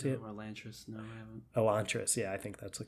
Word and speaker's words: Elantris: Elantris, yeah, I think that's the correct pronunciation.